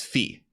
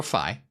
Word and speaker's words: phi: thought-provoking number consider the irrational number known as fee or phi i'll talk about that